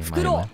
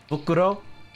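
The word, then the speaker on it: 袋: Fukuro! Okay, fukuro. Bokuro? Yeah, fukuro kudasai. Fukuro? Oh, fukuro. Oops. Yeah. Oops! Oh shit! Fukuro. Damn, I've been saying it wrong! Fukuro irimasu ka? What have I been saying? What have I been saying? Huh? You said bokuro.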